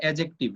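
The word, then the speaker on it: adjective: এটা প্রোনাউন্স হবে অ্যাডজেক্টিভ, ডি বাদ। ডি মনে করো নাই।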